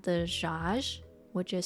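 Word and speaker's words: Djaj: so the one i got was called the josh which is spelled d j aj um which had chicken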